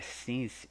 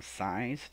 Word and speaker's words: since: Essa pronúncia é since e não science, tá bom?